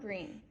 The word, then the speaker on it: Greene: My name is Greene. That's Green with a silent E at the end.